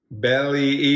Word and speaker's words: Belle Epoch: it here we go belly Epoch Deluxe I think that's how you say it you would think it's Bell but I heard somebody say belly oh that's on there